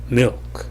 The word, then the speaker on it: milk: 예, 우리말식으로 밀 이런 식으로 나는 게 아니라 밀, 밀크 이런 식으로 나는 게 아니라 milk 이런 식으로 나죠. 필름이 아니라 film, 예, 필이 아니라 feel 이런 식으로 조금 다르게 납니다.